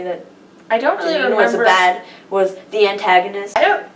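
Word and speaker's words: Jeanine: You said Janini? Yeah, I do. That's how I pronounced her name for so long. Janini? Janini. That's how I said her name. Janine. How do you say her name? Janine. Janine, okay. That's how everybody says her name.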